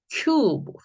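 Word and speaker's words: cube: 자, E는 소리가 없어지고 자음 앞에 있는 이 U를 U 발음해라. 지금 계속 장모음 소리 공부하고 있습니다. 자, 그러면 이거 C, 키읔 소리는 똑같고요. 자, 이거를 U 발음으로 읽어라 이 말인 거죠. Q. 자, 이번에는 B니까 Q, 비읍이죠. 소리가 T가 아니라. 네, 얘도 역시, 뭐, 으로 기본 걸로 가야 되겠죠. 자기 모음이 없으니까. 자, 그래서요, 큐브, 큐브 하고 읽게 되는 단어인데요.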